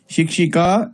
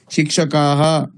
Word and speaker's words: शिक्षिकाः: शिक्षिका एकवचने तत्र विसर्गः नास्ति। शिक्षकाः तत्र विसर्गः अस्ति।